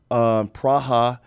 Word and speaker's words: Praha: Prague, which is in the Czech Republic, Praha, as it is pronounced correctly, but I would encourage you to go to Budapest because there are women like Amir.